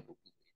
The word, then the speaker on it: Pompidou: Pengganti De Gaulle, Pompidou, ya, George Pompidou, bacanya Pompidou, itu tidak sekuat De Gaulle.